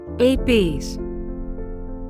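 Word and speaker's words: ἐλπίς: This is how this word is pronounced. ELPÍS.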